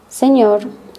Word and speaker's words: señor: The letter ñ with the sound n. The n sound is pronounced a little bit like an N with a ham. Think of it as an ñ sound like canyon.